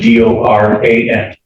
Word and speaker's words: Doran: spelling on the last name is D O R A N and it's pronounced Doran Dor.